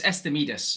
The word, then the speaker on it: Estimedes: there was lots of um elements to is estim am I pronouncing that right so it's it's esus so it's a playing words from estimates and